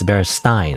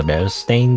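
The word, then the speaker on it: Berenstain: You know, because obviously people think it's Bearstein, right? That's the common misperception of the Bearstain bears, is that they're called the Bearstein bears because Stein is a common like pronunciation of like, I guess, German names maybe.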